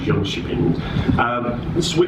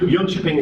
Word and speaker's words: Jönköping: So health warning, the Swedes don't pronounce it like that, right from the northwest of England. So when I say it, it comes out as Jönköping. Jönköping is a county council